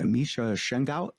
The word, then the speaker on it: Misha Shengaout: I believe I'll get the name wrong. Misha Shengaout.